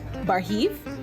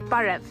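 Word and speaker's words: Բարև: Barhiv? Barhiv? Barev. Barev. Sarzi. Charzi. Charzi. Charzi. Charzi. You're welcome. What am I doing?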